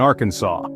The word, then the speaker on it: Arkansas: Arkansas while you're in Arkansas the law insists on the French pronunciation which sounds like Arkansas